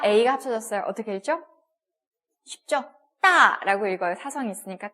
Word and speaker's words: 大: 따라고 읽어요.